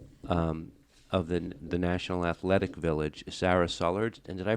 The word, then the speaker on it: Sara Sullards: the National Athletic Village, Sara Sullards. And did I pronounce your name right? Yes, that's correct. Do most people mispronounce it? They do, but it's okay. So it's just like it sounds.